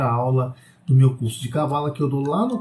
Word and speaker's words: Cabala: com H no final, outros pronunciam até Cabalá, que seria correto do ponto de vista do hebraico, gente. Do hebraico é Cabalá. A palavra correta é Cabalá, mas a gente está no Brasil. E como a gente está no Brasil, a gente tem que pronunciar da forma que o brasileiro fala. Então é Cabala.